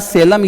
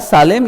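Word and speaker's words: Salem: ठीक है, और आखिरी आता है बेटा सेलम या सालेम।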